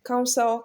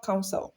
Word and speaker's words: counsel: So there are some words that whether they are noun or verb, they are going to be stressed on the first syllable. So we have interest, interest, counsel, counsel, process, process, comfort, comfort.